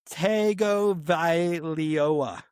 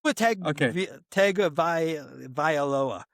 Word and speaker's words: Tagovailoa: If I could say it, I have always been under the impression that it's pronounced Tungaviola, which there's like an N sound in there that I think a